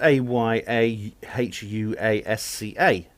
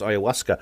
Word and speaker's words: ayahuasca: from the amazon indians it's actually pronounced simply ayahuasca it's perfectly easy to pronounce it looks strange because of